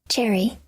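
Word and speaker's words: chary: Cherry. Cherry? So it's pronounced like the fruit cherry?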